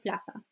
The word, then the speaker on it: plaza: Pero en España se pronuncia como una th. Okay? Okay, unos ejemplos. Tenemos plaza. So it's not plaza, plaza, plaza. Okay, it's like an S sound. Okay? O en España se dice plaza.